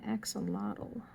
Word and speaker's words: axolotl: down to five dogs the parakeet and my axolotl if you don't know what an axolotl is